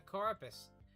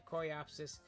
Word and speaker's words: Coreopsis: Yeah, it's gonna make a home for the Coropus. Coropus. Coropus? Yeah, is it Coropus? Oh my god. Hold on. I'm gonna find out how to frick to pronounce this plant. Coreopsis. Coreopsis. Coreopsis plant.